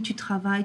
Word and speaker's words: travailles: So, please do not pronounce those S's and T's at the end, okay? Tu travailles is not tu travailles. Tu finis is not tu finis. I don't want to hear them. Tu finis, tu travailles, tu attends, okay?